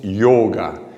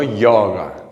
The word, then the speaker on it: Yôga: Nosotros escribimos yoga con este acento circunflejo porque denota la característica de que es una O cerrada. Entonces, yoga, no yoga, o yaga, o yoga, es yoga.